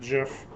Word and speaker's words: GIF: this week and yes i pronounce it gif i do not judge you if you pronounce it jif um but we are